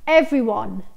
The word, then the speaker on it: everyone: اول كلمة هي everyone everyone everyone، انتبهوا انه بنكتبها every ولكن بننطق فقط اول حرف اي، تاني حرف اي ما بننطقه، بتتحول الى every everyone everyone.